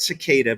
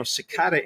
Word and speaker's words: cicada: do you say that it's well you say it cicada but Jeffrey Steele once